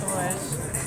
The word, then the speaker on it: Droesch: Droesch. Non, mais c'est toi qui vas nous donner la bonne prononciation. Oui, on va dire Droesch.